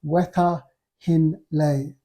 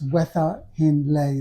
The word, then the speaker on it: Wetha Hin Lay: The pronunciation for this recipe is Wetha Hin Lei. That's Wetha Hin Lei. That's certainly the way I'm reading it, which translates to pork curry with mango.